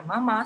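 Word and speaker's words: 妈: Lo que por sí el carácter se pronuncia en tono ma tercero, pero en conjunto, formando la palabra mamá, se pronuncia en primer tono ma.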